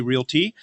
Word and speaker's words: realty: is from west USA realty she made sure that I said realty with two syllables and if I said it with three syllables I was going to get smacked we've picked her up